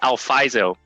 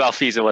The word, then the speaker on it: Alfizo: i get that question a lot it's actually alfaiso but i guess i i'll do alfizo as well as long as you can spell